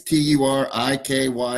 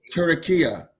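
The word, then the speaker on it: Türkiye: They spell it different. It's Turikye.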